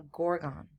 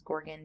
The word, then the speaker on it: Gorgon: I also mispronounced Gorgon. I say Gorgon, but I guess it's Gorgon, dragon. There's supposed to be kind of a rhyme there.